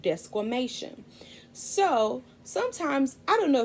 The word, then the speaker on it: desquamation: science word for this shedding process is called desquamation that's right let me say it again desquamation it's spelled d-e-s-q-u-a-m-a-t-i-o-n desquamation once the cells naturally flake off they